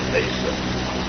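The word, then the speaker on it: עשו: But even if the word Esav, the iron should be pronounced Esav. Esav. And the iron Aleph is so important to the Gemara. Apparently it's part of the like that. You have to pronounce the Aleph and the the iron is known literally, repeat, throat.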